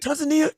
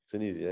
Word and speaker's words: Tunisia: Tanzania? Tunisia.